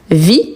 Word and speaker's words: vis: qui sont ici homopholes, c'est-à-dire que on les prononce de la même façon la plupart du temps, sauf la vis qu'on prononce le s car il s'agit d'un nom.